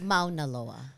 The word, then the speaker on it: Mauna Loa: salad at the Ivy, By the way, it's Mauna Loa. Oh, Just FYI. Just FYI. I'm so Darnella, our resident pronunciation queen.